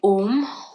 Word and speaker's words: om: this exercise three times when we say om we are going to break it down into three syllables um is the m at the end it's almost like a u m om now while we're